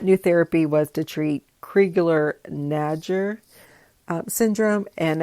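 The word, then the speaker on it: Crigler-Najjar: and and that new therapy was to treat kriegler nadger syndrome and it's spelled c-r-i-g-l-e-r hyphen n-a-j-j-a-r it is a severe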